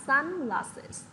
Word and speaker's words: sunglasses: Thì các bạn nhớ là nhấn trọng âm vào âm đầu tiên. Đây, cô sẽ viết cái phẩy trên đầu cho các bạn nhé. Đó, trọng âm rơi vào âm tiết đầu tiên, được chưa nào?